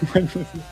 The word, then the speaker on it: Wednesday: And at the beginning I was saying we and I was pronouncing the D in Wednesday. What's next? Wednesday.